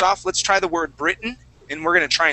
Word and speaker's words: Britain: sort of okay it's sort of like when we say the word britain okay britain is spelled with two t's there but we uh we swallow those t's okay so uh let's